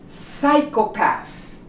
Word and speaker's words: psychopath: Psychopath. You do not pronounce the P.